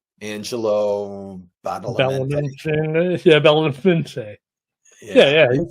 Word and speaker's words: Badalamenti: Angelo Badalamenti.